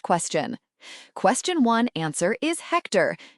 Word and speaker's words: Hector: Question one answer is Hector. Note the H is silent.